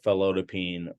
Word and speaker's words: felodipine: p i n e which is not pronounced Pine it's actually pronounced peen um and so the most common ones we would see are amlodipine uh felodipine or nifedipine these work